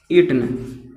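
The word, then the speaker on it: eaten: तो I have इटन, okay, last में full stop, it, eight, इटन, okay, या इटेन भी कई लोग इसे प्रोनाउंस करते हैं। तो इटेन, शायद इटेन ही इसका बेस्ट प्रोनाउंसिएशन होगा, आई हैव इटेन, है ना, आई हैव इटेन, ओके।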